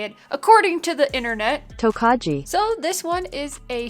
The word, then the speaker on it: Tokaji: how you say it according to the Internet tokaji so this one is a straight rye whiskey